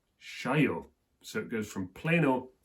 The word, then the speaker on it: cheio: the screen now, and the pronunciation of that word would go something like CHEIO. CHEIO.